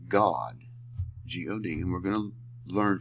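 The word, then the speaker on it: גד: what we're looking here this is not Gad this is this is pronounced God uh gimal doid is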